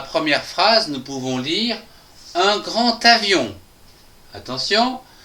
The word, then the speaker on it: grand avion: Dans la première phrase, nous pouvons lire un grand avion. Attention, ici, nous avons une liaison des A qui se prononce ta.